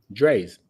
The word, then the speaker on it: Dre's: Dre's.